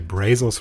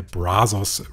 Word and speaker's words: Brazos: über den brasos River ich habe es eben falsch ausgesprochen es ist nicht der brazos River es hat auch nichts mit Jeff beasos zu tun sondern es ist der brzos River und es war damals